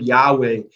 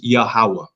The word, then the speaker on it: Yahuwah: pronounced with vowels so the word Yahweh totally incorrect Biblical Hebrew for his torment from an abjad which is a alphabet based on consonants bah God looser consonants okay it's a different totally different phonetic pronunciation from the vowel so the Tetragrammaton is the name of the Most High problem is that no one until 1969 was able to pronounce it correctly his name is yahuwah all right what nineteen